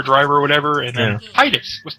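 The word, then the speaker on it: Tidus: X, or everybody's like Titus, and everybody's like, no, Titus, and it's like, no, it's Titus. That's how it's pronounced. That's an I.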